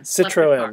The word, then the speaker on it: Citroen: sorry your last name is pronounced Citron or Citroen Citroen okay like the car okay see I should